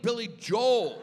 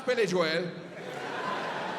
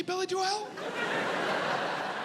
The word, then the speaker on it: Billy Joel: I was like, "Oh, you mean Billy Joel." (audience laughs) He goes, "No, it's Billy Joelle."